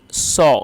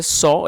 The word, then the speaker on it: saw: ही सॉ। दोस्तों SAW की जो करेक्ट प्रोनाउंसिएशन है वो है सॉ, इसको आपको सा नहीं पढ़ना जो कि गलत प्रोनाउंसिएशन है।